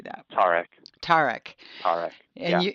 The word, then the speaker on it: Tarek: Tarek.